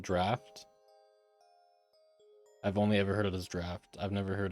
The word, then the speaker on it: draaft: I said draft or draft or draft. I'd pronounce it draft.